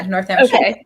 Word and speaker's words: Northamptonshire: I don't know how things are pronounced. I think, yeah, Northamptonshire.